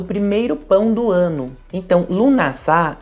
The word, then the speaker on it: Lughnasadh: Mas só para falar que de acordo com minhas pesquisas, a pronúncia correta é lamas mesmo e lunassá, que esse sabá também é conhecido como a primeira colheita, a festa do pão.